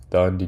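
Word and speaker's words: Thandiwe: Um, there was Carlos Santiago played by Selta Melo and Claire Simons played by Dand Newton.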